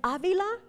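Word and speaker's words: Ávila: not that hard and Avila has an accent on the first a Avila not Avila so I'm at Yale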